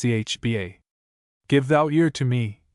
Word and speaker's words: Cathbad: FN number 40, pronounced Chba.